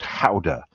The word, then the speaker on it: Gouda: And I kind of assumed that it was going to be a gouda, um, which is actually pronounced how uh, in the Netherlands or Holland.